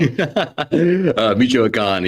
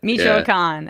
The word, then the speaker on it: Michoacán: You're going to have to pronounce that word for me. Michoacán, yeah. Michoacán.